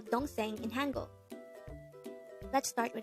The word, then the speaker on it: 동생: hangout word number 141 this is pronounced as a two-syllable word the first syllable is long the second syllable is pronounce it with me the word don sing is to korean noun